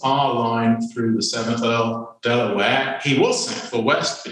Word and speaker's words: De La Warr: from the family name the pronunciation should be Delaware although traditionally everyone in Mexico pronounces it Della wall so there's what you should say and that's what everybody is habitually said so I won't go